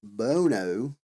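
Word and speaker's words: Buono: And the film also stars Cara Bono, I think is how you say her last name.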